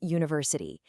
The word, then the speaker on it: university: Yeah, it starts with a U, which is a vowel, but the sound is y, a yay sound. That's a consonant. So it's a university.